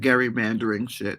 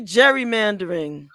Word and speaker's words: gerrymandering: things happened you know i looked up that that gary mandarin right but it's really gerrymandering it's i mean i